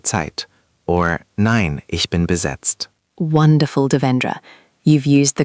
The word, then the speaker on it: besetzt: Available is verfügbar, verfügbar, and busy or occupied is besetzt, besetzt.